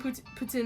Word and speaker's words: poutine: I've been pronouncing it as like poutine since putting poutine in a fast food chains has been popular, but that's apparently how you pronounce it, poutine.